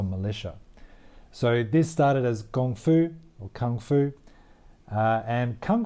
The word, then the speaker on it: kung fu: spelling is more like gongfu G oh and G it's the same as Qi Gong Gong foo and the word itself actually means a lot of hard work so basically kung foo means martial arts that